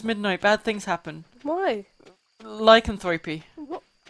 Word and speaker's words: lycanthropy: bad things happen why lycanthropy how you pronounce it yeah lycanthropy like i used to pronounce it like Anthropy like i don't think it's pronounced like Anthropy i think it's 3 p well the